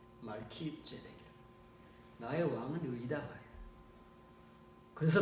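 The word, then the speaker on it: Melchizedek: 그랬더니 자기가 겨우 발음해낼 수 있는 멜치제덱 이렇게 멸치, 그 멸치가 아니고 멸치. 근데 멸치가 아니라 말키죠. 말키제덱.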